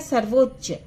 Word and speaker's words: सर्वोच्च: पहला है सर्वोच्च, है ना, सा वा में ओ की मात्रा और रा लगा हुआ है ना। सर्वो, चाधा और चा, सर्वोच्च।